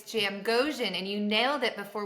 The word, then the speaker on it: Jamgochian: I have Jamie Jam. I told you I was gonna pronounce it wrong, but uh Jamie, thank you for joining me. Yes, it's Jam Goan and you nailed it before we started recording.